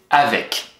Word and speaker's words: avec: Et on va prononcer avec. Donc, tu retiens bien AV et puis surtout EC à la fin. Il est là le piège. Avec. Donc, EC à la fin, on a le son EK.